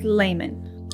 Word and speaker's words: Leimon: favorite country Japan they're called Carl lemon it's pronounced Layman okay this brand reached out to us over